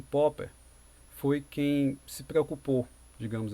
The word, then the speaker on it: Popper: Popper para alguns, né, aí vem a pronúncia do inglês, mas a ideal é lembrar de que vem pop, né, então a gente vai falar Popper, a gente não fala Popper, é Popper.